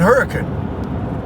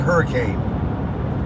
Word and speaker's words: Hurricane: I know it's Apple we're in Hurricane that's how they say it folks it's it's not hurricane it's hurricane look at the building look